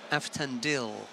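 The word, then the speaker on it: Avtandil: That's most informative, that perhaps with the given names, you don't pronounce the I, like Aftandil Cherikishvili, because it's Aftandili,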